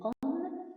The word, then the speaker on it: homme: C'est le mot homme. La lettre H ne se prononce pas.